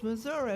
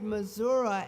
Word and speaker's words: Missouri: tongue it changed to Missouri. Missouri. Missouri became Missouri. Now I ask you, which one is right and which one is wrong? The French pronunciation, Missouri, or the Native American pronunciation, Missouri.